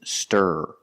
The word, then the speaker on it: stir: difference this word is Stir s stir you stir the soup and this word is steer you can steer your car and some Bulls are